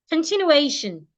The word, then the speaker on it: continuation: But the word is rightly stressed, continuation. Continue. The stress before T-I-O-N. The syllable before T-I-O-N is the one we are stressing.